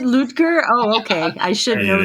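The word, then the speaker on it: Ludger: bothers me just like you guys pronounced lger even though it's ludgar oh is it ludgar oh okay I should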